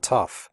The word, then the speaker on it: tough: The OUGH in tough is pronounced uff, like in stuff.